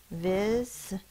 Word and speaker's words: visitor: its long sound, I, but the word is not visitor, it's visitor because of the schwa. The schwa is used to represent any vowel in an unaccented or unstressed syllable.